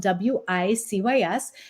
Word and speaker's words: WiCyS: We often go by our acronym WiCyS, and it's spelled WiCYS. We pronounce it WiCyS like we sisters because that's exactly what we are.